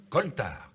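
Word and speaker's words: coaltar: vapeurs de toutes sortes ce mot coltard s'écrit curieusement com mais il se prononce bien koltar ce nom commun qui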